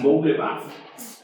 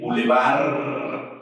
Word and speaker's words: bulevar: boulevard, no boule así, boule bard. Esto es un galicismo. La palabra en español es vulgarmente bulevar con R al final y no con D. Y no es bou, es bu simplemente bu.